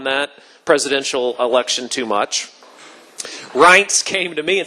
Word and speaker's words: Reince: Reince Priebus and again his name is rights it rhymes with pints who's kind of looking